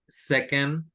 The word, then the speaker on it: second: Y en second, esta segunda sílaba es como una E muy, muy poco pronunciada. Second, second. No es second, sino second.